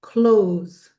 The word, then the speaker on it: close: But that just tells you that it's a long o sound.